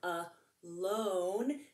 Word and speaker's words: alone: And in this word, it's a long O sound, alone. So there's that E that works together to make that O long.